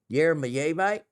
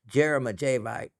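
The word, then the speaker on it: jeremejevite: You remember the Orango Yermaite? And if you ever hear anyone pronounce it Jeremite, just know they're wrong.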